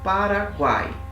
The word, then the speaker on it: Paraguai: São 3 vogais aqui, 3 sons vocálicos. Só que esse A, ele é mais forte. Então ele fica numa sílaba só. Paraguai. Guai. Ó, as 3 vogais em uma sílaba só.